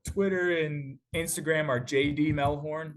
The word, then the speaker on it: Mehlhorn: gsu.edu um my Twitter and Instagram are JD melhorn melhorn spelled the same way um and you can